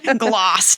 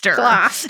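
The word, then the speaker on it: Gloucester: Topsfield and GL gler right that's how you pronounce it you did it gler gler uh so the Salem Witch Trials were not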